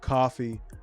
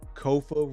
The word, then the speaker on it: Kofa: I am your humble host, Kofa, Kofa, not coffee, not, not Kofi, or any variation thereof. Kofa rhymes with sofa.